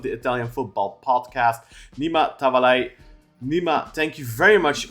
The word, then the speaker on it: Tavallaey: I'm joined today by Italian football expert and host of the Italian football podcast, Nima Tavallaey. Nima, thank you very much for joining us. I hope I pronounced your last name properly there.